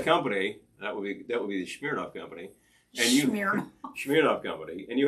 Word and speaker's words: Smirnoff: Because the actual pronunciation is Smirnoff. I've always heard Smirnoff. Yes, well, that's because this is a very Western way of pronouncing it. Smirnoff. Probably Smirnoff is even more to the point.